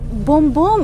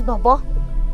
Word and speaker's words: Bobo: That's how she pronounces Bobo. She calls me Bombo.